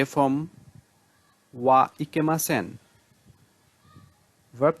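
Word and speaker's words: は: হচ্ছে, সেই ক্ষেত্রে এই ওয়া ইকেমাসেন অংশটা বসানো হবে ভার্ব তে ফর্মের সাথে। সো এখানে ভার্ব তে ফর্ম পরে হা যেটা লেখা আছে, হাটা পার্টিকেল হিসেবে ওয়া উচ্চারণ হবে।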